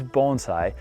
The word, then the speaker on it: bonsai: mispronouncing the word bonsai i'm in fact not mispronouncing it it is bonsai a lot of people think that the term